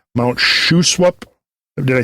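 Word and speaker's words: Shuswap: are you call the fiord Lakes like Mount shwap did I say it right Sho swap yeah um bonapart um ham Loops Okanagan yeah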